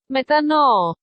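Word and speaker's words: μετάνοια: Pero la que más se utiliza y más se repite es esta, que se pronuncia así. Metano.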